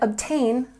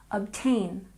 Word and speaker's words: obtain: And obtain, we stress the second syllable. Obtain, obtain.